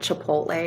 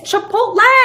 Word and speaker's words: Chipotle: to get the job it's not chipot it's Chipotle or something oh my gosh